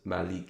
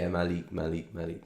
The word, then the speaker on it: Malik: It's pronounced Malik. Yeah, Malik. So yeah, I think I'm saying it right. Or Malika. Yeah, it's the whole stream is just me trying to pronounce your name. Yeah, you got it.